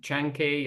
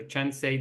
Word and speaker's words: Chancay: It's building one of the biggest ports in Peru, in Chancay or Chancay, depending how you pronounce it, and trying to hedge any choke